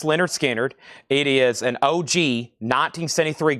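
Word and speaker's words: Lynyrd Skynyrd: Leonard Skannard is called pronounced Leonard Skannard.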